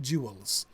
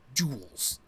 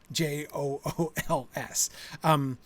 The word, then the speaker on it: jewels: He wants to make sure that if he wrote Jewels, there is a chance that somebody, especially somebody with a proper British accent, might pronounce that with something like 2 syllables, right? He definitely wants that in the Gaffer's mouth to be a 1-syllable word, right? It's not jewels. It's jewels, Jools.